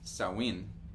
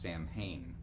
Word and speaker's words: Samhain: So let's begin with the um fact that sawin s a m h a i n is not pronounced sam hayne.